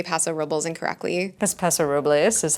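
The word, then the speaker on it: Paso Robles: me that I say Paso rubles incorrectly that's Paso rubles is that what we're supposed to say no that's anyone you talk to in Paso says Paso rubles and I've asked I've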